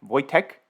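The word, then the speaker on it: Wojtek: but arthur m in the chat is saying wood check is actually pronounced like voice check voy tech yeah my polish not great but thanks for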